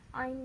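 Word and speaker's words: عين: Ain di sini pas dibacanya a-nya satu ayunan, satu ketukan atau satu harokat.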